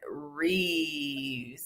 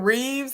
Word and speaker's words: wreaths: say y'all I'm country how do you say it wreaths yeah with an s okay because I'm saying Reeves and reefs and you